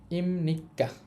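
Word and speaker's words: 입니까: আর এটার উচ্চারণ হবে ইমনিক্কা।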